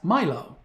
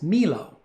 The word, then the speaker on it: Milo: of milo rimaldi as milo if he was a medieval italian he would probably be pronounced melo did not ruin the